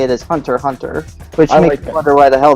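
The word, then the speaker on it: Hunter × Hunter: it's Hunter Hunter I used to call it Hunter x Hunter but apparently the pronounce right way to say it is Hunter Hunter which wonder why the hell they even bothered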